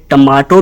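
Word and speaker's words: tomato: दोस्तों इस वर्ड को दोनों ही तरीकों से प्रोनाउंस किया जा सकता है यह टमाटो भी सही है और टोमेटो भी सही है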